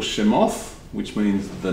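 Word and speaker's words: שמות: in the beginning the second one is called shemoth which means the names and he called badmithba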